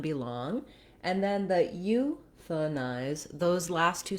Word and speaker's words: euthanize: And in this syllable, the th syllable, the letter A is vowel schwa. It's a reduced vowel. So it doesn't say a or ah, anything A related. It just says euthanize.